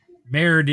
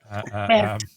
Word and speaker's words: Merde: Merde is a French swear word you can use if you don't know that. Merde. Merde. Yes. Merde. Nice. No, you actually do pronounce the D in that one.